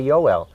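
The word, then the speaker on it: Joel: that are in germany when you see the word j-o-e-l joe l we would say they say yoel in german language today with the the uh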